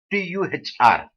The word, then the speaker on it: tuhr: The purity between the two menstruations called tuhr, T-U-H-R, tuhr. Now pronounce the way that you want, but the spelling is T-U-H-R.